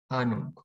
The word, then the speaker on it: Ahnung: historisch, La H después de la vocal no se pronuncia y hace la vocal larga. Ahnung.